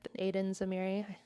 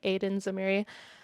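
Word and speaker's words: Aidan Zamiri: I think the director that she's working with, Aiden Zamiri, I pronounced it that way because I'm American. It looks like Aiden Zamiri, but I love the work they're doing together.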